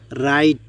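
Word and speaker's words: write: যেমন রাইট, এখানে খেয়াল করুন ডব্লিউ দিয়ে শুরু হয়েছে কিন্তু ডব্লিউ এর উচ্চারণ হয়নি।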